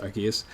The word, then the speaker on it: Arceus: right because we kind of got confirmation that's pronounced Arceus because of Pokemon making the ability of the